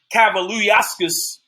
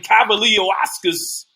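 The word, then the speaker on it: Kavaliauskas: it wasn't rule to knock down I think cavaliascus I know I pronounce his name wrong let me say that again Cavalier Oscars huh he should have gotten some credit kudos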